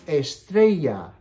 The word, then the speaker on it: estrella: star can you say star in Spanish it's Estrella stay with me Estrella Estrella okay so what's